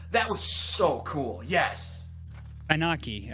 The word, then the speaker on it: Ananke: Anaki, I think it's pronounced. Anonke? Because there's two N's where Ananke. Ananke.